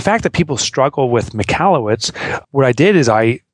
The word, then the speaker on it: Michalowicz: they become ambassadors saying no it's not Michelob it's Mallowitz but you can call